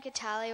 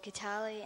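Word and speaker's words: Kitale: spell it slowly um I got the name Catal when Dad was born in a little town in Kenya which was called katali and it's spelled k i t a l e goodness gold and and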